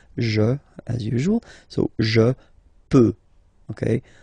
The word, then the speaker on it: peux: as usual, so je peux, okay? Final x not pronounced here, okay? So you get x, but you don't pronounce it, so basically you get the sound peut, je peux, okay, so I can, je peux, okay?